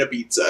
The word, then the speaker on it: Ibiza: I probably know them they say it like pizza it means that we're going to Ibiza I'm gonna eat pizza in Ibiza yeah even in the u.s.